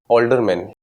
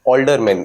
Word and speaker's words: Aldermen: Aldermen. Older. Aldermen. ALDERMAN. Aldermen. And it is pronounced as older.